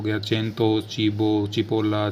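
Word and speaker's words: cipolla: यदि सी के बाद ई या आई उपयोग हो रहा हो तो सी को च पढ़ा जाता है। ये फॉर एग्जाम्पल हो गया चेंतो, चीबो, चिपोला, चेलेब्रे, बहुत सारे हैं।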